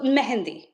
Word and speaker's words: mehndi: So is it pronounced Mehndi? Like the other name for it? So Mehndi, Meh.